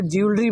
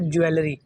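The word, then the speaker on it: jewelry: जे ई डब्ल्यू ई एल आर वाई। हम इसको ज्वेलरी बोलते हैं। जबकि ये वर्ड है ज्वेलरी।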